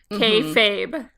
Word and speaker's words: kayfabe: you're saying fabe, kayfabe, K like K dash fabe. I mean, it's one word.